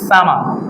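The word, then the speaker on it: summer: তাহলে সামার যেহেতু শব্দ শেষে আর আছে, ব্রিটিশ ইংলিশে আর উচ্চারণ হয় না, তাহলে হবে সামার। সামার।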